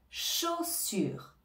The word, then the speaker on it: chaussures: si on reprend on a le son che le son o le son s du E s le son u en français et le R qui nous vient de la gorge et on ne prononce pas le E final cha sur cha sur chaussur